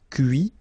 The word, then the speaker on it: cuit: Okay, so you can notice that even if I put this final T, so as usual, I don't pronounce it. Okay, conduit, construit, cuit, détruit, instruit.